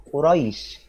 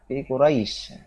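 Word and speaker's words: قريش: kyles terdapat lafadz Quraisy lafadz Quraisy adalah contoh bacaan mad lin bacanya agak lentur Quraisy tekan kayak kalau kita sedang bisa itu ada ada lobang untuk sedikit Quraisy adalah dari bacaan mad mad lain cara Hai bacanya cukup di banci baca panjang sebanyak A Rocket Hai cheat-cheat baca sepanjang dua harokat persis dengan bacaan mangkel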